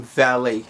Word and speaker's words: Valee: get out of here the name valet is it is it's not really spelled the way it's pronounced you know what I'm